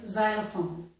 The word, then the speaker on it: xylophone: Occasionally, the letter X does make one sound. It can make just the Z sound, as in the word xylophone.